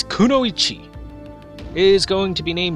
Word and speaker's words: kunoichi: it all right everyone so R Kuno Chi kunoichi not kooi not kooi pronounce it right you filthy slack jaw it it's kunoichi is going to be named Mo mochizuki Chi